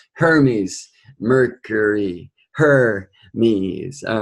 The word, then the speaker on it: Hermes: Justice Jays me justice I'm told that's better pronounced Hermes mercury her means all